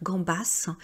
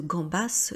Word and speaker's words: gambas: Et bien tout simplement parce que gambas ce n'est pas un nom français, hein, tout comme hamburger. Donc pour les noms étrangers bien sûr, vous prononcez comme cela doit se prononcer. Donc comme en espagnol on dit gambas et en anglais on dit hamburger, vous le prononcez de cette manière.